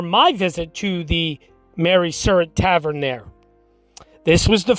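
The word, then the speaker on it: Surratt: then they head to the surret or sarat however you want to pronounce it i pronounce it surret the surah tavern at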